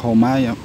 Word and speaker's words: Joma: merk dari Spanyol ya Dan mungkin di Spanyol ini cara bacanya bukan cuma tapi jadi Ini pertama kalinya saya memberi produk dengan merk homai merk dari Spanyol bisa